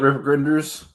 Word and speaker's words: RPGrinders: Spell it rip grinders.